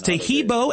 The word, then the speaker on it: Taheebo: Tahibo is spelled T like Tom, A-H-E-E-B like boy. Oh, that's Tahibo, and then continue with the word tea, and then the word club.